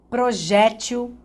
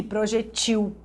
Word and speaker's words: projétil: A sílaba tônica ela pode se posicionar na penúltima ou na última, enfim, e as duas pronúncias serão corretas. Por exemplo, projétil e projetil.